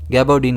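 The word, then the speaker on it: gabardine: गैबोडीन के कपड़े से। इसे हम प्रोनाउंस कैसे करेंगे? गबोडीन। इसमें स्ट्रेस जी पर रहेगा।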